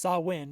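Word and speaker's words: Samhain: before we started recording I've literally always pronounced it wrong my entire life so to actually learn that it's pronounced sawin is like yeah oh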